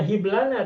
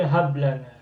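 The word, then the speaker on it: هب لنا: Bukan bukan rbana hiblana tapi hablana. Masdarnya wahbun.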